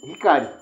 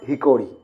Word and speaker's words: Hickory: This is Hickory, not Hickory. It is Hickory.